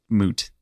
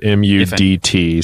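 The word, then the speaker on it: Mudt: would you guys make of of moot well his name is spelled m-u-d-t so I mean it kind of looks like immediately you're like mud and that kind of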